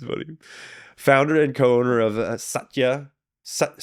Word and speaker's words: Satya: the basic pronunciation right it's just it can be softer because if you go Satya then it's like really emphasizing the first kind of and what what do